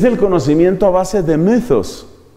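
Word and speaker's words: μῦθος: Es un mythos. Esta es la letra Y, que suele pronunciarse como la Y francesa, entre la I y la U.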